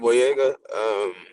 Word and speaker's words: Boyega: I Yo, watched I another so like similar sad movie to that recently with the actor John Boyega.